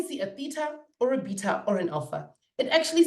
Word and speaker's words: beta: Greek letter Theta or beta or as the Americans say beta we don't call it beta in South Africa we call it beta and Alpha these three